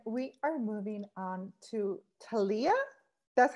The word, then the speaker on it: Talia: detail and then we are moving on to talia that's how you say it talia talia okay